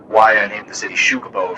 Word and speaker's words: Xucaboa: i named the city shukabo first off the x is pronounced like a sho so it's is the